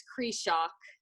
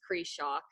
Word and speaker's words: Krzysiak: i'm doing but oh man my name is cree shock the last name is cree shock just is good i went from